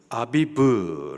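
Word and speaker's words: אביב: 시작하는 1월이 되는 거예요 그 달을 히브리 발음으로 아비브 라고 말을 하고 여기 15절 말씀에 보니까는 한국말 성경에서는 아비 월이라고 기록을 하고 있습니다 우리 성탄절을 맞아 가지고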